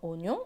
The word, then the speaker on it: oignon: Et dans oignon, on entend bien le son ñ.